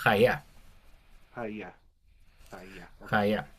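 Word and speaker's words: היה: Pero se Ok, pronuncia haya.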